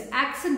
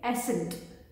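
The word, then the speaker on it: accent: जैसे एक्सेंट है, एक्सेंट की जगह बोलेंगे एसेंट, ये इनकरेक्ट प्रोनाउंसिएशन है, ठीक है।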